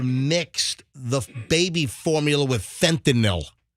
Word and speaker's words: fentanyl: Because the mother mixed the baby formula with fentanyl. Not fentanyl, like most people say, because it's not NOL, it's NYL, it's fentanyl, not fentanyl.